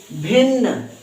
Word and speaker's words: भिन्न: आधा ना और पूराना तो जब आधा वर्ण आया हो और उसी के जैसा वही वर्ण फिर से पूरा आया हो तो उसको एक साउंड में उच्चारण करते हैं एक ही ध्वनि में उच्चारण करते हैं लेकिन थोड़ा शीघ्र थोड़ा जल्दी उच्चारण हो जाएगा तो इसको क्या कहेंगे